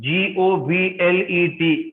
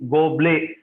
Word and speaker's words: goblet: See, there is one word, G-O-B-L-E-T, goblet. See, you must pronounce it as goblet.